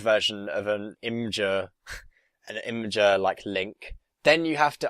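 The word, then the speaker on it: Imgur: Imager.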